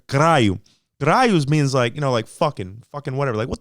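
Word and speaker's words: caralho: Carai is a mispronunciation, okay, of the word caraio.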